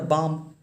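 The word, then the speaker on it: balm: Spelling जो देखिए focus करना साउंड पे, लेकिन जो उसका रियल स्पेलिंग है लिखना वो है। अब देखिए उसी तरह बाम, ये बाम है तो बी ए एल एम हो जाएगा बाम।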